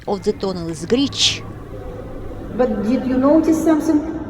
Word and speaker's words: Grič: By the way, the right pronunciation of the tunnel is Grič.